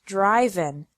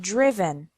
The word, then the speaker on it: driven: The present is drive, and the past participle is not driven, but driven.